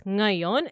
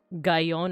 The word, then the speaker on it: ngayon: So it's ngayon. It's not pronounced like gayon or nayon. It's nga.